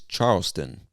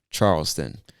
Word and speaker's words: Charleston: the mountain state is charleston charleston like the name charles and then add tun to the end charleston charleston west virginia all